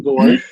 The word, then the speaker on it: borscht: That not much you can do with borscht. You're doing a great job. That's one syllable.